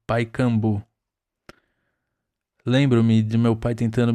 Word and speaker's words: Pacaembu: E finalmente adentrei o estádio do Pacaembu que se pronunci pronunciava Paikambu.